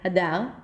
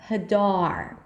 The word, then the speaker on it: Hadar: So I'm not saying Hadar, I'm saying Hadar.